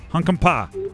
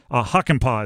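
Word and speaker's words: Hakanpää: Yanni Hunkampa, Carolina Hurricanes. 66. Incorrect. James Reimer, Carolina Hurricanes. Yeah, those got me. There were some tough ones. Huckenpaw is the way to pronounce that one, by the way.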